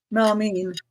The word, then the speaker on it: melamine: and sugar Russell write melamine is that I'm saying that right melam Mel melamine melamine there you go Patty um melamine yeah yeah even though it's spelled mine it's mean M me like yeah yeah